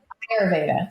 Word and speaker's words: Ayurveda: Ayurveda, sorry.